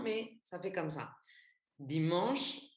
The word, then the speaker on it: dimanche: Par exemple, si je dis dimanche, en français, on ne dit pas dimanche, on dit dimanche. Je ne sais pas si tu arrives à capter la différence, mais bon, là, j'insiste pour la prononciation du mot et du son en.